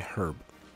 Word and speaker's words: herb: Revival herb. Yeah. I just pronounced the H in herb. You're not supposed to do that. It's herb.